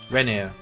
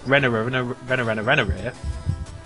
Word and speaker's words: Renier: It's not spelled like banana. Renner. he's just addicted to R's. Yeah, but they're both together. They're double R's. So that means like they sound... It's not Renner. It's just Renier.